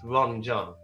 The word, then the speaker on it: Ranjan: it's spelled to ranjan it's meant to be pronounced ron john so i just abbreviate